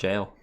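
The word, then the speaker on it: Gaol: Yeah, it's pronounced jail. Even though it's spelled gow.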